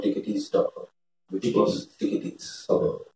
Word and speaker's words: Ticketees: was Ticketees. Okay. It's spelled Ticket, EES. Okay. We called it Ticketees because there was EASE was not available, but we still wanted the feel of ease in the name.